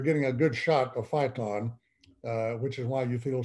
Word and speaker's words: phyton: So there's a natural chemical in all plants, including trees, called phyton, P-H-Y-T-O-N. Pronounced as like fight on, but spelled P-H-Y-T-O-N.